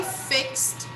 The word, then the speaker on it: fixed: was fixed yesterday so whenever i pronounce this regular verb in the past i'm going to put the sound of t i will never pronounce e d okay so fixed let's